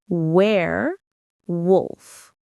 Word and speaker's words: werewolf: The stress is on the first syllable where. Say it with me. Where wolf. It's like where and then wolf.